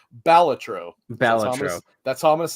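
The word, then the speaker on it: Balatro: producers of of well they called it Bolatro, but if I'm not mistaken I believe that the guy that made it confirmed it is pronounced Baltatro that's all I'm going to say from now on.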